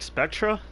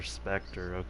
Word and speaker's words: Spectre: Just call them Nordic Spectra. Is that how you say it? Spectre. Spectre. Okay.